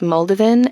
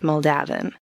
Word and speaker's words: Muldavin: I've heard it pronounced moldovan and I've heard it pronounced moldavin and I I will probably end up using them interchangeably it doesn't really matter because the people who